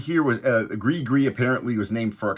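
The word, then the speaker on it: Gris-Gris: this Persona the night Tripper now this album pronounced GRE gree which I mispronounced in another video and thank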